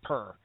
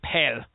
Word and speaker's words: Per: or four times and it definitely is not does not sound like purr uh it says like per but uh of course that's the Swedish in them I'm sure